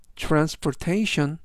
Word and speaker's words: transportation: 되겠습니다 이번 단어는 transation transportation transportation이라고 발음하시면 되겠고요 이때 강세는 뒷부분에 있는 알파벳 a 강세가 있습니다 그래서 transportation이라고 발음하시면 좋겠고요